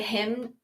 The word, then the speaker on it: hymn: So Be Still My Soul was inspired by a hymn. You just say hymn, right? You don't pronounce the N.